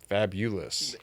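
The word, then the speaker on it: Fabolous: busy day season finale fabulous f-a-b-o what's the pronunciation fabulous okay there we go two-time sneaker shopping guest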